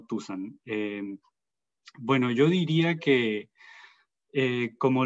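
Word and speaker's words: tusán: El nombre de nuestra comunidad es Tusan con acento en la A, Tusan, no Tusan.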